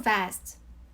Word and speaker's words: vest: vest, a vest, two vests. V랑 B 발음을 조금 혼동할 수도 있는데요. B 발음은 윗입술이랑 아랫입술이랑 떨어지면서 나는 소리예요. 마치 best처럼요. best. 하지만 V는 윗이로 아랫입술을 살짝 물었다가 놓으면서 나는 소리예요. vest.